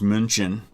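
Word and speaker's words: München: germany that we in in english call munich uh but in german it's munchin so it's not the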